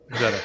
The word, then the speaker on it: ZetaBlock: How do you pronounce it? I think ZetaBlock. Zeta.